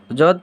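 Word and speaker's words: ض: इसे हम लोग जोद पढ़ते हैं और इसका उच्चारण क्या हो जाता है? जौ।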